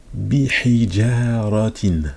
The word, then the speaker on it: بحجارة: Bihijaratin. Donc bi. Là on connaît. Hi. ja, le ja, bihijaratin, ratin. Ça, je pense qu'on l'avait jamais vu écrit comme ça. Maintenant, donc, bi, ça on connaît, bihi. La lettre ha, avec la kasra, hi, ja, bihijara, facile.